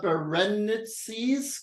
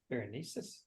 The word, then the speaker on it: Berenices: It's in Coma Berenices. Can somebody correct me on the spelling? Berenices. On the pronouncing? Berenices. Berenices.